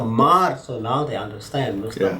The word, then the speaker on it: Maart: Martin, how do you say Mr. Mr. what? I said January, February, March, Mr. Maart.